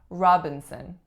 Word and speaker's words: Robinson: next one we have Robinson Robinson three syllables in this one the winner again is on the first and the sound that it makes is aa the second syllable then it's a syllabic N or schwa n and the third syllable is also a schwa Robinson Robinson next up